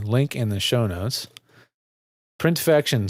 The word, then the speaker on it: Printfection: Printfection spelled like infection with the print on the front.